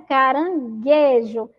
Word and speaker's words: caranguejo: Olha lá, caranguejo, fogueira, foguete, jegue, águia, guitarra, laguinho, sagui. São aí exemplos de palavras que o U não foi pronunciado, tá bom?